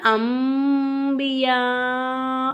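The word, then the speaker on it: أنبياء: அப்ப நம்ம என்ன செய்யணும் நூனே சாக்கினையும் தன்வீனையும் மீமா மாத்தி நம்ம உச்சரிக்கணும் அப்ப இந்த இடத்துல அன்பியான்னு சொல்லாம அம்பியா அவ்வா அப்படின்னு சொல்லணும் இங்க அவ்வாங்கிற வார்த்தைக்கு முன்னாடி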